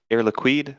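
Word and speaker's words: Air Liquide: a question on uh heirlook air liquid that's how you say it right yes yeah the queen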